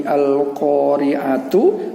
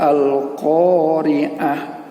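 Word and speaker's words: القارعة: Ya, nah, ini ta ini pada saat bertemu dengan tanda waqaf, maka bacanya bukan lagi al-qari'atu, tetapi sudah al-qari'ah.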